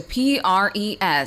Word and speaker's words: prescind: So your word of the day is spelled P-R-E-S-C-I-N-D, spelled P-R-E-S-C-I-N-D.